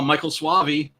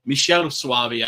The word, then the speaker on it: Michele Soavi: uh big for uh Michael suvei Michelle suvei actually I believe his name is pronounced uh but it unfortunately